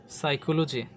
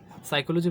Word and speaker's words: psychology: এছাড়াও আরও কিছু ওয়ার্ড আছে যেমন কি সাইকোলজি, সাইকোলজি বানানটা কিন্তু প্রথমে কি আছে পি আছে, PSYCHOLOGY,